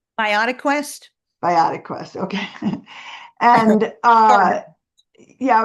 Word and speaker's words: BioQuest: But the good thing is that you have this product, a product line called BioQuest. Is that how it's pronounced? Biotic Quest. BioQuest.